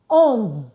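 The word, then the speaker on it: onze: So 11 is pronounced as ons on.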